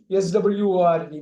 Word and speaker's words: sword: அந்த W வந்து சைலண்ட்ங்கிறது தெளிவா தெரியணும்.